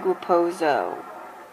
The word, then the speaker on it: Raposo: So it's Greg Raposo, not Raposo.